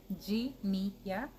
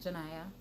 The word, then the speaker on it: Jania: Jania, not Janaya, not Jania.